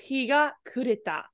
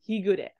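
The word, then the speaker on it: 日が暮れた: However, this is actually pronounced as ku when it's not with the kanji directly. So it's higa kureta rather than higure.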